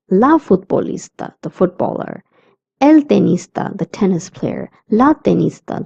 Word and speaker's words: tenista: The T sound is always the in Spanish and not the. That's why we say tenista and not tenista.